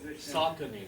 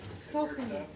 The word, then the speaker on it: Saucony: Saucony. Saucony. S-A-U. Saw, like a saw.